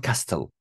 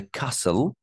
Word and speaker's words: castle: T is silent here, guys. It's not castle. We saw the castle, and bought a lot of souvenirs.